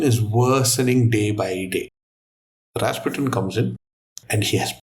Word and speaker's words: Rasputin: You can't just say Rasputin. You say, "Rasputin."